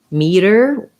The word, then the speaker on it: meter: pronounced exactly the same they both have a flap so it sounds a little bit like a d so matter sounds the same as matter like he's madder than g is meter if there were uh